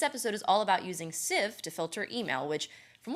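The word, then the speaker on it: Sieve: First off, Civ, it's spelled S-I-E-V-E, pronounced Civ, and it is a filter.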